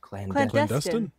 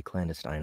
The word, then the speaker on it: clandestine: at his beckoned call what is the correct pronunciation of that word clan dustin okay you got it i used to say clandestine i guess it was